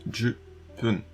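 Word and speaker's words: 十分: Jubun, ça veut dire suffisamment, mais ici elle dit bien jupun, donc 10 minutes.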